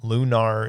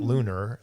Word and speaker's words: Lunar: lunar remastered collection and lunar is apparently the correct way to pronounce it not lunar um um so lunar